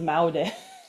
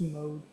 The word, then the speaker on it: Maud: I would have pronounced as maode. It's mode.